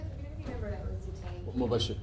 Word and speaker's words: Mubashir: Mubashir, spell it. Yes. Can you spell your name? M-U-B-A-S-H-I-R. It's pronounced Mubashir.